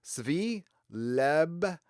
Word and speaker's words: Svi Lebetkin: It's pronounced Svi Lebetkin. Lebetkin. Thank you, Svi.